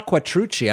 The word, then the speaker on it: Quattrucci: Yeah, when I saw Quattrucci, I was like, I can't think of any other way that would be pronounced. That's how you pronounce the name.